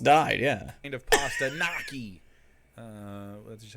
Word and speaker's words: gnocchi: Kind of pasta gnocchi.